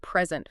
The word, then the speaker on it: present: it's truly empowering take the word present for example if you emphasize the first syllable you're talking about a gift something you give to someone but if you shift that emphasis to the second syllable you're describing being in a particular moment or place the same word two completely different meanings all thanks to where we put the stress word stress really is